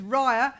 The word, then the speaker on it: Rayya: So just start off, my name is Rayya, and it rhymes with liar, so that'll help you remember it.